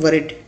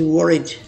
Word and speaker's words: worried: यहाँ मैं एक चीज़ आपको बता दूँ कि हमारे यहाँ लोग W और V में इतना डिफरेंस नहीं करते, इसको अक्सर लोग कहते हैं worried, but that is totally wrong. The exact pronunciation is worried.